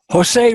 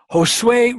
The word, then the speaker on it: Josue: second first of all Jose Josue hello there you are good I pronounced your name right this time yes sir okay you